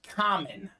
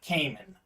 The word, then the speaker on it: Kamen: I'm not straight off the boat foreigner, but I was born in Bulgaria, and that is why my name is pronounced Kamen and not Kamen.